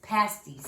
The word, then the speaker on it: pasties: But we were saying it wrong. It's pasties. Yeah.